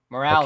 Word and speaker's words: Morales: Morales. Your pronunciation say it. is You say it. Miles Morales.